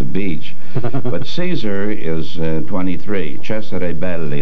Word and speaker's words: Cesare Belli: Cesare Belli, that's the way it should be pronounced.